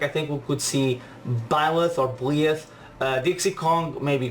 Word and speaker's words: Byleth: The predictions, Bleeth is pronounced Byleth.